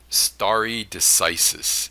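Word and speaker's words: stare decisis: s-t-a-r-e-d-e-c-i-s-i-s now that's Latin Starry decisis is how it's traditionally pronounced but but if I have any Latin scholars in here you're probably aware that the C sound that we use is usually in Latin so you can argue that this is star a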